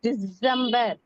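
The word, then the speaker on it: Dezember: தான் நமக்கு வரும் நவம்பர் டிசம்பர் நம்ம சொல்லுவோம் அவங்க வந்து டிசம்பர் இசட் வந்து கொஞ்சம் ஸ்பெசிபை பண்ணி சொல்லுவாங்க டிசம்பர் டிசம்பர் டிசம்பர் டிசம்பர்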